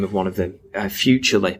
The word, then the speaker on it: Futrli: of one of them, Futurely, but it's spelt a really weird way, Futrli.